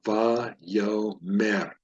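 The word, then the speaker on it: וַיֹּאמֶר: So va, yo, aleph is a silent letter. There's no vowel underneath it. So va, yo, mer. It's the last syllable there.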